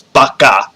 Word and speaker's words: baka: not and i mean technically if you want to get it's not baka it's bakka yeah no apparently a